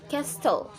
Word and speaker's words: castle: Note: the letter T is silent in a few words. Listen and say these words: listen, castle.